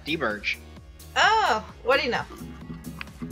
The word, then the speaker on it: D-Birch: I was gonna be like De Birch or something like that, but I don't. That's probably not how you pronounce it. I'm sorry. I'm sorry. No, that's actually his name. Did I pronounce it right? Yeah, D-Birch.